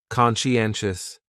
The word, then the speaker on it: conscientious: So conscientious has four syllables and the stress is on that third syllable. N conscientious conscientious. That second syllable is what really confuses people because that sigh almost sounds like you're saying she.